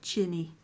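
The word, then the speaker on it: Qinni: find that as well it spells their name q-i-n-n-i it's it in her language is pronounced chinny because it's a q-i so and then if you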